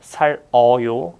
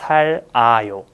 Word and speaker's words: 살아요: So it's not 살어요, it's 살아요.